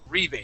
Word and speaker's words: rebate: Rebate. Okay. Rebate. Like debate? Okay. Yeah, a debate would have the accent at the end, but rebate is at the beginning.